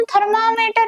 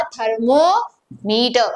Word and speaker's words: thermometer: थर्मोमीटर। थर्मामीटर नहीं, देखो बहुत सारे लोग प्रोनाउंसिएशन गलत करते हैं, थर्मामीटर नहीं, थर्मोमीटर। तो थर्मो यानी क्या?